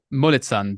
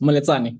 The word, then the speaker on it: Moletsani: I'll let the speaker come on stage, and Moletsan, do I pronounce that one right? Close, Moletsani, yes.